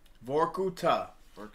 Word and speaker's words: Vorkuttah: uh so um what is how do you pronounce the name of your band vorkuta and what does that mean exactly uh first